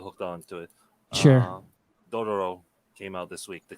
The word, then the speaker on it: Dororo: Dororo came out this week, the complete collection edition. Totoro?